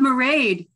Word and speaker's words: Mairead: And we have Mairead, rhymes with parade, from Harlow Creative.